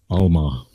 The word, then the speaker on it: Alma: Alma.